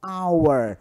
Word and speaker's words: hour: O H ele não é pronunciado. Eu chamo de H aspirado. Então, a pronúncia ela começa a partir da vogal. Hour. Não é hour.